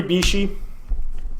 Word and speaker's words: Bixi: 3 Bishi. It's spelled Bixi, but it's pronounced Bishi, apparently.